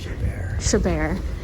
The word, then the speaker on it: Chabert: So she got an individual ticket to see the stars talk because she likes Lacey Chabert. That's the same reason. What's her name? You tell me. Lacey what? Chabert.